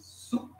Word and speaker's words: soup: Soup, foca no U aqui, ó.